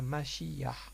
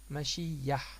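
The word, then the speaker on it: משיח: Donc on a fait rouah, maintenant on va passer à mashiyah. Donc mashiyah, comment ça s'écrit?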